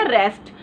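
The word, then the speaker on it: receipt: तो ये हमारा वर्ड बन गया रेस्ट। लेकिन नेक्स्ट वर्ड है रेसीट। अब देखिए रेसीट के अंदर सबसे पहले तो पी साइलेंट है इसीलिए इसको नहीं बनाएंगे।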